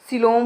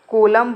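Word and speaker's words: coelom: सिलोम होती है, ठीक है। या फिर कोलम बोलते हैं, इसे क्या बोलते हैं? कोलम भी प्रोनाउंसिएशन करते हैं।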